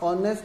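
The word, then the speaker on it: honest: अब देखिए, जैसे ही मैं वर्ड लिखता हूँ ऑनेस्ट, अब ऑनेस्ट में एच प्रोनाउंस नहीं होता है।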